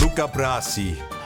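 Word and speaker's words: Luca Brasi: Luca Brassi. Luca Brassi.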